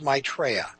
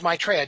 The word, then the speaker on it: Maitreya: leader the world teacher his personal name is Maitreya I'll spell that it's ma i tre ye it means the happy one the one who brings joy his personal name is Maitreya just like my personal name is dick and